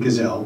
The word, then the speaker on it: Kizell: So John Kizell, I prefer the pronunciation Kizell, but I may be in the minority.